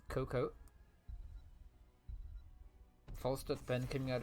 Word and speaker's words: Cocoa: out from FK coca-cola cocoa alright they under team page it's a silent a just pronounce it as cocoa all stuff then coming